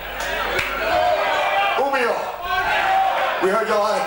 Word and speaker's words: Umeå: Umeå? How do you say it? Umeå.